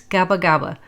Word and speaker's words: Gaba Gaba: The Kapa Kapa trail used by the American soldiers in World War II is actually named after a mispronunciation of this place, Gaba Gaba, the village near the starting point of the trail.